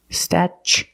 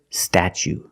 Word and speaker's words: statue: Then we use the ch sound, statue. For the second syllable, we use the long oo like boot and moon, oo. Together, statue.